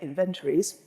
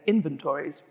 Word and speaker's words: inventories: the first one is as we British say inventories or I think you normally say inventories so I'll say both